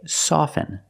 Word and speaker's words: soften: words soften and often with both words I don't pronounce a t i say soften and I say often but sometimes you'll hear people say often and it's not wrong it's